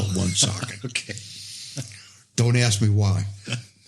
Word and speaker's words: Woonsocket: Yeah, it's spelled Moonsocket, but they call it Woonsocket.